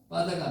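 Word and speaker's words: בָּזָה: 빠자가 멸시하다는 뜻입니다. 가볍게 취급하다는 겁니다. 비웃다는 뜻입니다. 빠자. 발음을 하면요. 빠자로 됩니다. 실제는 보통 쓸 때는 바자라고 쓰기 합니다.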